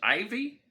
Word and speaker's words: IYV: Well, this is the unboxing of a budget Les Paul copy, an IYV, which is, I think, pronounced Ivy, even though it's spelled funny and wrong.